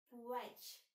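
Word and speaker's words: płeć: І остання наша позиція на сьогодні – це «плеч». «Плеч». Добре, навчися вимовляти це слово, маємо тут специфічний польський звук «в».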